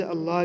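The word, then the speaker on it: اللّٰه: हो तो लाम को पूर पढ़ेंगे जैसे य अल्लाह का लाम है इससे पहले जबर है नून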